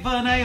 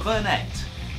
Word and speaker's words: Vernet: And on this week's show, first of all, we've got Thumbtipedia by Verne. Is it Verne or Vernet? Translator. I have always called it Verne, yeah. With a silent T.